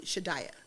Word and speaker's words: Shadaya: is okay what is it that's how you pronounce it correctly yeah yeah okay okay so okay so are we saying it properly shiddaya yes okay all right for for you would you do your parents say shadayah or do they say you're dying who cares